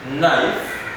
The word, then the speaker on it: knife: k k and n most of the time the k is always silent knock nil nail new mowers with cavity silence nipples knife knives meat no knock